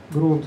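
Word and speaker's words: Grunt: Вот есть так называемый грант. Как он вообще правильно произносится? Грант? Грюнт? Ну вот это местный там у них сборщик, я не знаю. Грунт. Грунт, да.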